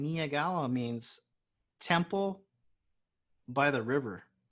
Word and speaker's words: Miyagawa: It's Miyagawa.